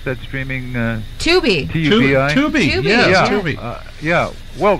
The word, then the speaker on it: Tubi: Is that how you pronounce that streaming... Tubi. T-U-B-I?